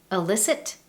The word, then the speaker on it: illicit: The first, illicit and illicit. These 2 words are homophones. What that means is they are words pronounced in the same way, but they have different meanings.